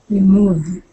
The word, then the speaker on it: removed: So there's an ED there. So how are you going to pronounce that? Like a D sound. Yeah. So try that again. Removed.